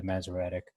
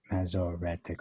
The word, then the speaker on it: Masoretic: empty is the masoretic so mesoretic okay it's four syllables i'll just say the